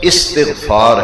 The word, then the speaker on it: استغفار: بلند کیا جاتا ہے۔ یہ لفظ استغفار ہے، پروننسیشن تلفظ ٹھیک ہونا چاہیے۔ لفظ کیا ہے؟ استغفار، باب استغفار، اس کا معنی ہے بخشش مانگنا، مغفرت چاہنا۔ اور جب پڑھیں گے تو پھر واحد متکلم کا صیغہ بنتا ہے، وہاں پڑھیں گے استغفر اللہ، استغفر اللہ۔ اور جب استغفار کو بطور استغفار ذکر کرنا ہوگا کہ استغفار پڑھو تو پھر پروننسیشن تلفظ استغفار ہے۔ اور نبی کریم صلی